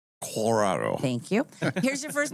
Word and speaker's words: Colorado: Colorado.